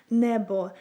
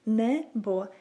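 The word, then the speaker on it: небо: So if you wanna say a sky in Ukrainian, you would say it like nebo, nebo, nebo.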